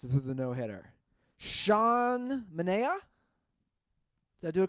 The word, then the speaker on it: Sean Manaea: How's this guy's name pronounced with the no-hitter? Sean Manea?